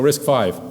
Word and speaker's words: RISC-V: It's a Roman numeral, you pronounce it 5, right? So RISC-V.